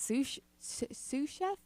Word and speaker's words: sous chef: I am a sick-ass sous chef. Is that how you say it? Yeah, sous chef.